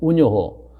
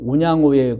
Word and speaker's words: 운양호: 일본말로 발음은 운요호, 우리가 한국말로 발음은 운양호입니다. 그래서 여러분 지금도 이 영종도의 구 벡터에 가보면은 그 동산이 있는데 거기서 일본의 그 운양호의 그 침공을 받아서 우리나라